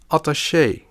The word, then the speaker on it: attaché: With borrowed words from the French language, the E has an accent. In that case, it is pronounced as a long E, like in café, loger, and attaché.